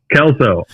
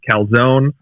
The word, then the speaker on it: Kalsow: Yeah, it's just like that 70s show or Scrubs, if you've seen those at all. They have the iconic Kelso characters. It is spelled a little bit different. So I have been called calzone or before. But no. Kelso.